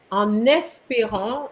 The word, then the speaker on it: en espérant: And then, en espérant, I think you didn't make the liaison here. En espérant, so you're going to link the N with the E.